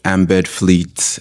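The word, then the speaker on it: Ambed Fleet: It's called Embed Fleet, and it's spelled AMBED.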